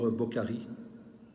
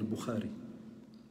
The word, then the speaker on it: Bukhari: un hadith rapporté par bokari si c'est qui bokari ah ouais bokari le spécialiste du c'est bien qu'il parle de Bukhari même la prononciation liit pas c'est de temps en